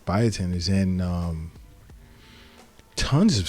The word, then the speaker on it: biotin: this is in in bootin biotin I'm said it wrong bio biotin is in um tons